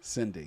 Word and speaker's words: Sydney: However, well, in interview, Sydney said that's Cindy. not true. That's how I say it. Sydney. You can't say it wrong. You have to say her name right. Sydney. Cindy. Yes. Cindy.